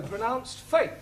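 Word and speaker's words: fête: For example, F-E-T-E is also pronounced fate.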